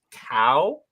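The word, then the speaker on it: Caio: I think it's Chow, because I know Chow is spelled that way. It's not Chow. Yeah, I know Chow is spelled exactly like that. That's Italian. I was like, no, it's not. That's Italian. It's definitely like cow.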